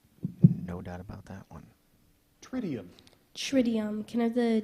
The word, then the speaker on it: tritium: Tritium.